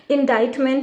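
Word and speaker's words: indictment: इट मेंट में आपको इसकी आपका जो इसको बोलने का तरीका है और जो स्पेलिंग है वोह उसमें कोई सिमिलरिटी नहीं है तो इसकी स्पेलिंग को आप ध्यान रखिए और इसके प्रोनंसिएशन को भी ध्यान रखिए इनडाइज मेंट में सी जो है यह आपका कंपलीटली साइलेंट है इनडाइज मेंट इसका मतलब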